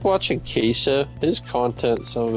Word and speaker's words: queso: Queso or KCO? Uh, Queso is how it's pronounced.